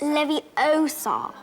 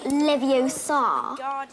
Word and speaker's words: Leviosa: Besides, you're saying it wrong. It's Levio-SA, not Levio-SA.